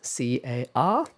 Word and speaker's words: car: So in American English, the R after a vowel is almost always pronounced. In most varieties of British English, however, the R after a vowel is usually not pronounced.